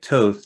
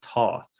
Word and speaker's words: Thoth: It's like Toth, like oath. Whereas I think we say Toth, in Right. New Orleans.